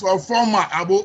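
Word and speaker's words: Oforma Agbo: My name is Oforma Abo, OFORMA, sir.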